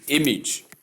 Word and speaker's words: image: Tip, emphasize the short E sound vowel in both syllables. You can see the short E sound appears in both syllables in pronunciation. Even though you have the AGE at the ending, the AGE is pronounced as age, not age. I said that before.